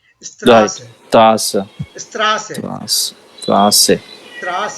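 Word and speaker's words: Straße: So त्रास है there is no emphasis on s. The emphasis is on the a. Strasse. Right? त्रास right Emphasis त्रास is here. Emphasis is here. Right? Strasse.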